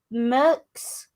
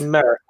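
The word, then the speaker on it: Merckx: um that's it that's i can't pronounce his name but i did find it written down he's a famous belgian cyclist eddie merks rc eddie eddie merrick so i think yeah i think it's how it's pronounced five times between 1969 and 74.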